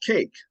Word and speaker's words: K.E.C.: Hey, So, tell me, Yeah, you spell your name K-E-C, but it's yeah, pronounced cake.